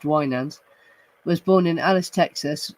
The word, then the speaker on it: Winans: Charles Francis Wanders, pronounced Wands, was born in Alice, Texas, May 14th, 1939.